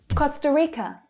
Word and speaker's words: Costa Rica: Costa Rica, Costa Rica. So we have Costa, Costa, Rica. So both unstressed syllables are schwa sounds there.